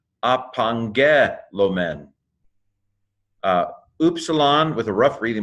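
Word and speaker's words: ἀπαγγέλλομεν: So gamma, gamma is pronounced like angel, anyway, so let me pronounce it. Apangelomen.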